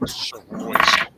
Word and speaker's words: Soroyce: He says his last name is pronounced Soroyce.